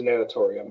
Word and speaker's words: natatorium: Is that how you pronounce it, Terry? Natatorium? Natatorium? Yep. I didn't hear you. Yeah, it is natatorium, yes.